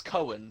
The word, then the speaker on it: Cohen: sasha baron hogg yeah uh sasha barron it's cohen sacha barrow sasha barack owen um anyway he